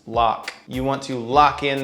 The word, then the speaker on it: LOC: rhymes with low, and LOC is pronounced lock.